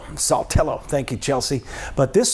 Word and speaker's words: Saltillo: So as we get into this, Guntown, Baldwin, and Saltillo, I'm not even going to try to pronounce that one. Saltillo. Saltillo.